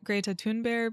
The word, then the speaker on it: Greta Thunberg: And I am saying Greta Thunberg because I asked my Swedish friend how to pronounce it, and this is what they told me to say.